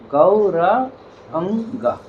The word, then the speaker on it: Gauranga: So it's Gaura, Gaura is 4 syllables. 3 syllables, yeah? It's like 3 syllables, yeah? Gauranga. Gauranga.